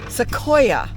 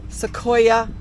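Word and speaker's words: Sequoyah: the SEO Museum I I wanted to know how to say that how do you say it SEO seoa seoa Museum and seoa is a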